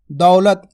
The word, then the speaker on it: दौलत: दौलत क्या लिखेंगे दौलत दौलत किस तरीके से उच्चारण हो रहा है दौ लत तो पहले क्या आएगा दौ अब देखो दौ बोल रहे हैं ना अपन देखो द में औ की मात्रा का उच्चारण हो रहा है दौ मैंने क्या बोला दौलत ना कि दौलत दौलत तो दौ यह